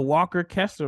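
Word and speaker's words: Walker Kessler: right that time yeah you got it the Walker Kester route and go to a school where he's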